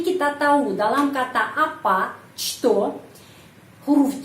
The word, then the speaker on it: что: Что kita melihat huruf C, tapi kita tahu dalam kata apa что huruf C pengucapannya что.